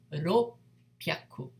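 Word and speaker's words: ろっぴゃく: to say, so therefore ropyaku, ropyaku, right? So we have this small tsu in hiragana, which means double P.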